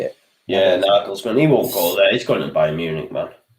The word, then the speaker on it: Nagelsmann: Yeah, Nagelsmann.